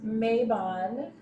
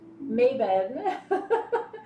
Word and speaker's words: Mabon: our 2021 fall equinox mabon maven depending on how you pronounce it to our ceremony